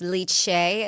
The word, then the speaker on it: Lice: I think, so the town, it's spelled like lice, but I think it's Licea is how you're supposed to say it.